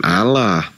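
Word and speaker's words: الله: Karena dalam bahasa Arab alif lam lam ha itu bacanya itu bukan Allah, tapi dibaca tafkhim, dibaca tebal. Jadi Allah gitu, bukan dibaca tarkik, kucluk.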